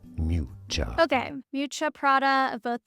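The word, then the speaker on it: Miuccia: How do you pronounce Matcha Prada? Mucha. Mucha.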